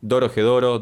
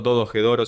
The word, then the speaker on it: Dorohedoro: la introducción de un anime que se llama Dorohedoro, Dodogedoro, siempre lo pronuncio mal, pero va a estar apareciendo por ahí la imagen y que te recomiendo que veas porque es buenísimo.